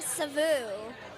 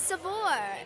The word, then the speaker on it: Saveur: pronounce its name Savor everybody saying SAU it's seore it's not correct seor I pr that's